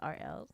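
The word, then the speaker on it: Aurel: Or like my initials. Rel. Hey. All right. Oh, now I'm never going to forget it. All right. Nice. RL.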